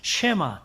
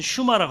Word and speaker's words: 쉐마: 쉐마 또는 슈마라고도 해요. 발음상으로 쉐마 또는 슈마라고 하는데요.